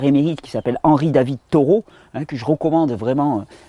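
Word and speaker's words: Thoreau: la vie dans les bois de Henry David taureau ça s'écrit th h o r e a u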